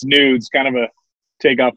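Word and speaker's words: gnudz: or whatever so it's nudes yeah the g-n-u-d-z the g is silent but yeah everyone calls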